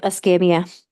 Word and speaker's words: Escambia: So in 2004, the Class Kids National Search Center teamed up with, is it Escambia? Is that how you say it? Yep, Ascamia.